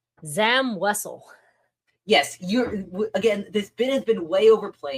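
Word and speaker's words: Zam Wesell: Zam Wessle. Yes, you're again this bit has been way overplayed because 95% of people pronounce it like you do and then there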